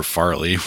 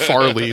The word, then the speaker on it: Farrelly: and I think it was directed by Peter Farrelly. Yeah, that was. What else has Peter Farrelly done? He's one of the Farrelly brothers. Farrelly. Okay, I'm sorry. I thought you said Farley specifically.